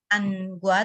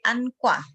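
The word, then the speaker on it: 안과: Terus itu angwa, klinik mata, membacanya bukan angwa tapi ankwa.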